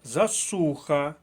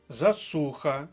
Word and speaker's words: засуха: як і наступне слово Засуха другий склад Засуха друга колонка другий склад ще раз Засуха взагалі я підбирав